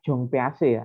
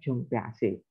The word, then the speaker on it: Jean Piaget: Setelah Ausubel, Tordikai, lalu ada teori pembelajaran Jong Piaget. Itu bacanya Jong Piaget ya. Kalau tulisannya Jean Piaget, tapi bacanya Jong Piaget.